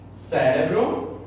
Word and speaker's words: cérebro: Cérebro, em português, cerebro, em espanhol, beleza?